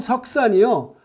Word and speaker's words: Shuksan: 재미있는 것은 이 마운트 석산이요, 한국말로 돌석자와 매산자가 아니고요, 영문으로 석산입니다. 영문 스펠링 말하면 SHUKSAN, 석산 이릅니다. 그러니까 공교롭게도 우리 느낌의 석산 그러면 돌산이라는 기분이 있는데요.